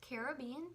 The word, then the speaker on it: Caribbean: And I say, well, it's pronounced Caribbean because I'm from the islands. I'm Puerto Rican. My parents are Puerto Rican. My grandparents are Cuban, and my whole life they've pronounced it to me as Caribbean. And when you say the word Caribbean in Spanish, it's Caribe. So which one does that sound more like? It obviously sounds more like Caribbean.